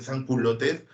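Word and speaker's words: sans-culottes: Ah, si los jóvenes son perspicaces, pues acá hay de San Culotes, se pronuncia San Culot, se escribe culote.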